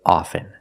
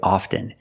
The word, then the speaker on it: often: With both words, I don't pronounce the T. I say soften, and I say often. But sometimes you'll hear people say often, and it's not wrong. It's okay. People say both, often and often.